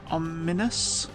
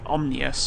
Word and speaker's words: ominous: place, which looks quite ominous. I nearly say omnious for some reason. It's a weird pronunciation I've picked up somewhere.